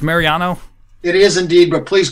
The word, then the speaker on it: Mariano: glad to be here Mr Mariano is it pronounced Mariano it is indeed but please call me